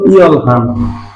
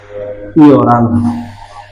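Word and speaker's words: 열한: রা, আর নিচে ন, ইয় রান। তাহলে আমরা এক কথা বলতে পারি রিয়লের পরে হিয়ত থাকলে রিয়লটা হিয়তের স্থানে উচ্চারিত হবে। উচ্চারণটা ইয়ল হান এটা হবে না, উচ্চারণটা হবে ইয়রান।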